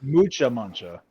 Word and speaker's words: Mucha Muncha: So it's Mucha Muncha. Mucha Muncha. Accent on the U.